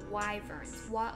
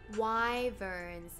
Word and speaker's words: wyverns: sound very intimidating right why are they pronounced wyverns why why verb nice one sounds like inquisitive plant oh it does it kind of sounds like why burns y ferns you know sounds like